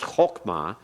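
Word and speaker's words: חכמה: Because you know it's spelled hok or pronounced hokmah, then you know it's a comets hatuf, which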